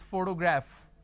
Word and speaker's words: photograph: missing for example if i have the word which is photograph photography photographer so anything p h o here it carries a function of a fur